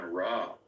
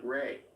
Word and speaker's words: Ra: Rock from ancient Egypt it's not even raw he pronounces it Ray right and he looks